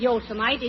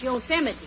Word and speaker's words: Yosemite: these western names right it isn't yosemite it's yosemite oh yeah and what